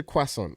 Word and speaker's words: croissant: Croissant is No, the T is then also the T is silent.